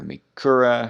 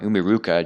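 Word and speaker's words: Umiiruka: roaring ocean snake again for umikura i feel like i'm saying it wrong umiruka jeez uh also uh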